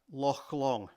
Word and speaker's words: Loch Long: The CH sound in Scottish is a soft H, like hotel. So it's Arrochar, Loch Long.